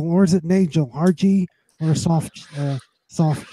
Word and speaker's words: Nagel: welcome you on Nagel, or is it Nagel? RG or a soft G? It's actually Nagel. I know I got a lot of people that say Nagel, but it's a hard G.